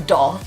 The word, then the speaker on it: daith: I keep pulling it Dave I keep forgetting it's a doll I am so sorry guys it is doll but I just I